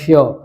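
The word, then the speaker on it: sure: শিওর না এটা হবে শিওর আর এর উচ্চারণটা বাদ যাবে কারণ শব্দের শেষে আর ই আছে তারপরে যদি বলি সার্টেনলি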